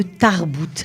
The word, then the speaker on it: Tarbooot: Et ça nous fait plaisir parce qu'elles sont venues nous parler de Tarbout. Alors Tarbout, ça s'écrit T-A-R-B-O-O-O-T avec 3 O.